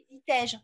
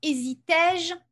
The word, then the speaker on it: hésitais-je: Parce qu'ici, vous voyez, dans hésitais-je, on prononce le est.